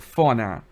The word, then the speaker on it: fauna: We said fauna. Fauna is the correct pronunciation.